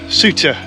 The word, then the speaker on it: Souther: is spelled sulfur but I understand it is pronounced suture so that's the name we'll be going with